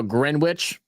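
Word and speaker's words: Greenwich: Just now grin witch. Well, look, if y'all going to spell it green witch, then have it pronounced that. If you want it to be pronounced grin witch, then spell it grin witch.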